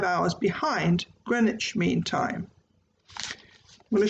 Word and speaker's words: Greenwich: It's spelled Greenwich, but pronounced Greenwich.